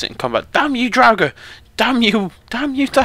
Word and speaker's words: Draugr: He's got a lovely Draugr scourge up there, or Draugr, as someone decided to tell me I was saying it wrong.